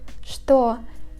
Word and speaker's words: что: In the word что and its variations, The first two letters Ч, Т are read as ШТ. For example, что, чтобы.